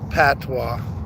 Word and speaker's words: Patois: But that's definitely Patois. Patois. Right? That's how you say it.